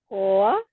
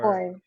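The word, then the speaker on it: コア: Koa. Goa. Koa. Unsa man na siya? Core. Core. Ang layo, no? Pero Pero pag pronounce niya, ang R manggod, core.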